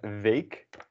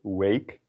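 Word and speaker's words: weeg: i just saw then four we have vague vague take note of the w there's a v not so you won't say wake or weak but vague and it sounds similar to bake and vague just means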